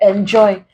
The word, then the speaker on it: enjoy: So here, enjoy. This is a prefix, we stress joy.